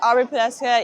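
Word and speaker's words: Aubrey Poduska: How do you spell it? My name is Aubrey Pesca.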